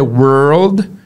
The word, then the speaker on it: world: Primeiro were, were, depois você faz o L com D.